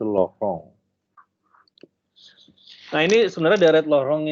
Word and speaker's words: Laurent: kita namakan sebagai deret lorong ya atau lorong steris tulisannya Lauren Kalau Anda tanya orang Perancis Gimana bacanya itu lohong nah ini sebenarnya deret